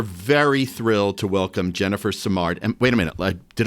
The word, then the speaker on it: Simard: Um, we're very thrilled to welcome Jennifer Simard.